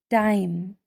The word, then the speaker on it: dime: Dime. D, I, m. D, I, m. D, I, m. Here, the E is silent and makes the vowel I take out its long sound of I.